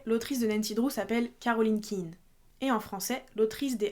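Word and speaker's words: Caroline Quine: D'ailleurs, quand j'étais plus jeune, je prononçais Caroline Queen. Sachant que les livres étaient américains, je pensais qu'il fallait le prononcer comme ça. Et c'est quand j'ai su que le nom original était Caroline Kein que j'ai compris qu'on était censé prononcer Caroline Kein en français.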